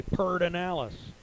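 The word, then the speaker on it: Pedernales: that is so close you're just missing a syllable it's pertinent you're missing the syllable yeah it's looks like there's no r in front of the d but that's what they say pertinalis all right back to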